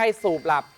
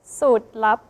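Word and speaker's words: สูตรลับ: อ่า อ้า นิโคลีน ครับ ไม่ ใช่ สูบ หลับ แต่ ว่า ใกล้ เคียง คือ สูตร ลับ สูตร ลับ นะ ครับ และ คำ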